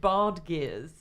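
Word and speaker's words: badgir: These really cool things called bard gears, and that spelled like badgers, but with an I. Yeah, I mean, you've really pronounced them unhumorously correctly there, I think, Anna.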